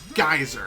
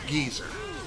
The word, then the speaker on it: geyser: hilarious is that uh i believe that is how it's uh pronounced in the united kingdom it's not geyser it's geezer why it's like saying